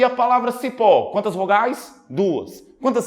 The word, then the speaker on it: cipó: Ok e a palavra Cipó quantas vogais duas quantas sílabas duas Olha o cipó demora mais tempo no pó isso significa dizer que